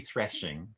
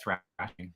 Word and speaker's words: threshing: I know it's spelled with an E, so it should be threshing, but we call it thrashing.